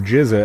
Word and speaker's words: GZA: real life his cousin is the Giza and that's spelled the Rizza is RZA and the Giza is GZA uh now that's gonna be something